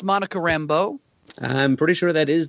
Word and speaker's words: Monica Rambeau: And Murray, it's pronounced Monica Rambeau.